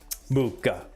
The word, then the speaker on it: Muka: Muka. That's the right way to say it.